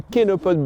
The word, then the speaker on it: chénopode: Quatrième plante, le kénopode blanc, ça s'écrit chénopode.